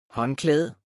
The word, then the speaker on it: håndklæde: Håndklæde.